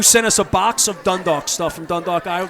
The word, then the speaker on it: Dundalk: Dundalk.